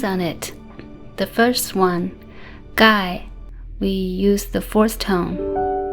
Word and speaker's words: gai: So the combination of G, A, I is ge, I, gai, ge, I, gai, ge, ao, gao, ge, wa, gua.